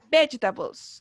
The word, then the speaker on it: vegetables: Y cargamos la voz, ¿cierto? En las 2 primeras sílabas, ¿cierto? En veg. Vegetables.